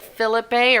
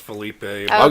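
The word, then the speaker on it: Phillippe: and Ryan Phillips hey I always say his name wrong is it Phillip a or Felipe or I'll go Thalia pronounced Philippe Philippe okay so both of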